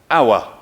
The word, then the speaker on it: hour: give you a clue the H is silent hour hour hour two syllables